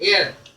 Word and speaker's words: heir: इसको एयर भी बोल देते हैं, ए भी शुरू में उच्चारण में लग जाता है। एयर, एयर, एयर, इस प्रकार से ही बोलते हैं।